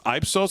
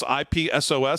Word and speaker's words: Ipsos: the poll conducted by I I guess is pronounced ipsos ipsos surveyed Americans ipsos surveyed Americans from the general